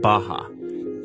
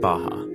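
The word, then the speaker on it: Barra: the west of the place called Baja ours are pronounced like H in Portuguese this is a new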